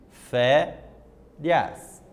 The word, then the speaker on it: Férias: Férias. 2 sílabas. Então, o acento está na penúltima sílaba.